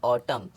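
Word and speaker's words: autumn: silent हो जाता है जैसे ए यू टी यू एम एन तो एम एन दोनों साथ में है तो इधर एंड लेटर साइलेंट हो गया तो इसको पढ़ेंगे ऑटम क्या पढ़ेंगे ऑटम अब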